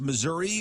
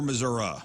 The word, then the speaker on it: Missouri: All right, is it pronounced Missouri or Missouri? It's Missouri. Both.